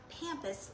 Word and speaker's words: pampas: It's not pampas grass. I chat GPT'd it, and it said it's pronounced pampas, like Pam, P-A-M, but nobody else in